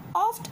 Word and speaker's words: oft: Oft a little morning rain foretells a pleasant day. Oft is a short form of often. Okay, we will not pronounce T.